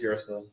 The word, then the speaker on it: Yrsa: YRSA is Yersa.